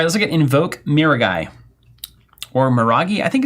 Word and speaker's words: Miragai: So it can't be Miraji. That sounds like a stuffed animal. It's Miragai.